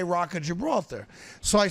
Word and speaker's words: Gibraltar: The G in Spain is a soft G, not a hard G. So instead of Gibraltar, it would be Gibraltar.